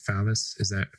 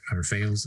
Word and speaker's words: Fales: I imagine then you agree with, a lot of the atheists like Wes Morriston and Evan, I think it's Fallis, Fales? Is that? I've heard Fales. Right? Yeah, Fales.